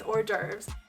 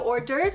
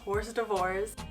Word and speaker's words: hors d'oeuvres: So hors d'oeuvres is a French word, and no, it's not pronounced hors d'oeuvres.